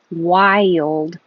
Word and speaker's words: wild: in the noun Wilderness wild is almost two syllables I made it two parts because your tongue goes up very high why why why you